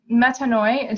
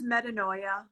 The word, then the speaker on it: Metanoia: those decks um the waterless collection and the metanoi did I say that pronounce it yeah I know I have the